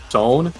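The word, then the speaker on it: Sonne: As I was doing that, I'm listening to the last one we did, Zone.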